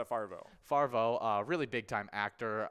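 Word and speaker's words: Favreau: it's Farvo.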